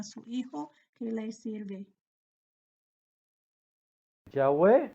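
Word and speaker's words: Yahweh: faraón con este mensaje jehová que es en hebreo se pronuncia yagüe ha dicho así israel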